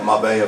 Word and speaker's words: Marbella: Marbella. I had been mispronouncing it at home. Marbella Film Festival.